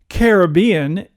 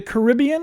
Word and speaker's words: Caribbean: lived in the caribbean is it the caribbean or the caribbean oh see that's interesting um i used to say caribbean and then when i lived down there i said caribbean interesting so that's what the people down there say yeah that's right